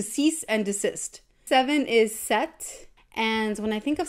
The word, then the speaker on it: sept: and like to cease and desist seven is set and when I think of seven I think of September but September you actually pronounced like the SE PT by the way